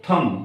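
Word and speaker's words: thumb: lamp क्या बोलते हैं इसको थंब नोट थंब इसी तरीके से सी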